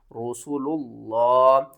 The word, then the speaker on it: رسول اللہ: میں رکھنی ہے کہ لفظ اللہ سے پہلے جب بھی پیش ہوگی تو ہم لفظ اللہ کو موٹا کر کے پڑھیں گے۔ ہجے کس طرح کریں گے؟